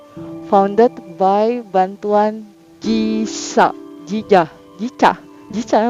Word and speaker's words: JICA: Terus, nah ini nih, founded by bantuan Jisa, Jija, Jica, Jica, bacanya Jica, Jica ya. Terus, iya, JICA. Jadi kalau kita bahasa Indonesia itu Jija, ya. Tapi berhubung bahasa Inggris jadi GICA, oke.